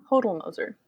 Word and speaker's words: Hodel Moser: spelled that way so Hodel rhymes with the yodel and then it's motor which is quite easy I'm gonna hold of music Hodel Moser total hoser bulldozer hold